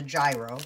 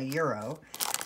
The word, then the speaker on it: gyro: I take these actually, and I make myself a, I call it a gyro, but apparently it's like a euro.